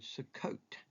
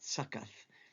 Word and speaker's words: Sukkot: Stop number one is a place called, believe it or not, this is the word Sukkot, not Sukkoth. It's Sukkot.